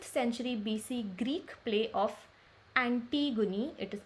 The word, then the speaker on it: Antigone: Which of the following analysis is not true for 5th century BC Greek play of Antigone? It is pronounced as Antigone by Sophocles.